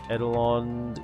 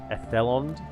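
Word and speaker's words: Edhellond: Edelond, yeah, we want to go for guard barracks. Ethelond. You don't pronounce the D.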